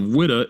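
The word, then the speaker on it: Ouidah: It said that they called it Judah or a Judah because the Portuguese couldn't pronounce Wida.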